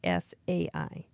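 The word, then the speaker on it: Cai: C AI but it's pronounced T S AI.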